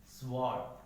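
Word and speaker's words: sword: अगर डब्ल्यू किसी वर्ड में एस के बाद आता है, किसके बाद आता है, एस के बाद आता है, तो डब्ल्यू क्या हो जाएगा साइलेंट हो जाएगा। जैसे आंसर, स्वॉर्ड, ठीक है, जहां क्या हो गया सॉर्ट, यहां क्या हो गया डब्ल्यू साइलेंट हो गया।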